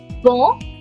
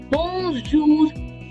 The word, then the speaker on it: bonjour: Why are you pronouncing the R?